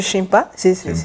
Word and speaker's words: Cimpe: C'est la meilleure prononciation, je crois, c'est Chimpe.